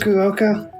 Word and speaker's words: Fukuoka: Fukuoka.